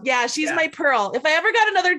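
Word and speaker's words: Purl: This is Pearl, everybody. I'm sorry. I don't know if they can see her, but. And it's spelled like Pearl and Knitting. Right? P-U-R-L. Yeah, she's my Pearl.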